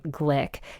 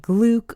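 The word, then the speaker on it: Glück: And I just learned that she pronounces her last name Glick. You'll probably hear it Gluck or Gluck often, but yes, Louise Glick is her preferred pronunciation.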